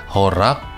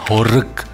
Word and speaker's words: horeg: Pengucapannya ada yang horeg, ada yang horak ya. Jadi pengucapannya yang betul adalah horeg. Kenyang gitu ya, kita ngucapinnya itu kenyang, horeg.